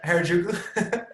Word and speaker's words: Harajuku: I'm saying Harajuku.